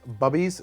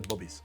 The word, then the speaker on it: Bubby's: And actually, I'm pronouncing that wrong, by the way. If you ever see that, it says Bubby's, it's actually Bubby's.